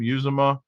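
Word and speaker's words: Uzomah: Uzoma.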